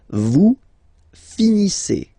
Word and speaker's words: finissez: Vous finissez. Vous finissez. Okay, a Z at the end gives you the sound E. Okay, finissez, finissez.